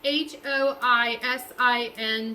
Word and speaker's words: hoisin: should have googled hey google how do you pronounce h o i s i n sauce that's pronounced hoisin sauce hoisin sauce okay so yeah i got